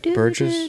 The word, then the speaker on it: Burgess: Burgess. Is that right? Burgess.